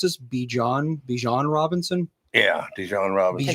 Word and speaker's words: Bijan: How do you pronounce this? Bijan Robinson? Yeah, Dijon Robinson. Bijan Robinson.